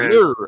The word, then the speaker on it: Lee: That shit ain't Lee. It's like a lir, a lao.